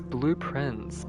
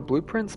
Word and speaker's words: Blue Prince: No, it's blueprints because it sounds phonetically like blueprints. Like, blueprints, because you're drafting blueprints throughout the game.